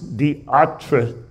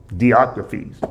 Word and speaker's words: Diotrephes: This guy, this third character, is Diotrephes. Diotrephes. Anybody else got a better explanation? Better pronunciation?